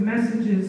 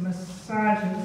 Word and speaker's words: messages: I think you pronounce the word messages as massages. I think you put the stress on the wrong syllable, so just be aware of that.